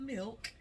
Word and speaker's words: milk: And then I've got a half a cup of milk. I've heard some people pronounce it like that, and it drives me crazy. There's no A in milk. It's an I.